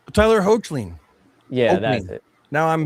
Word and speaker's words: Hoechlin: in certain light, it actually looks like Tyler Hutchinson or whatever his name is. The Superman actor. I can never say his name. Tyler Hoechlin.